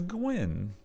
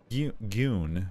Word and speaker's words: Gwyn: the white one is Gwyn wait am I saying that right or is it goon G Gan like usually you said it right the first time oh okay I've never